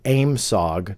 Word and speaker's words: AOIMSG: called the AOIMSG, or how they pronounced it phonetically, AIMSOG, don't ask me why, during the UAP hearings, they referred to it as AIMSOG.